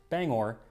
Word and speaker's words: Bangor: the form of song explaining that it is pronounced Bangor, not Banger.